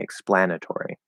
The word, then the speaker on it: explanatory: and then the tor explanatory because it's stress we're not reducing it to ter explain if i say explanatory it sounds kind of weird okay so we can't really reduce it to er it has to stay or and then of course